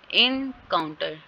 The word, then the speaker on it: encounter: Second syllable पे stress है, sorry second syllable पे स्ट्रेस नहीं है, इन पे स्ट्रेस है, काउंटर पे नहीं है।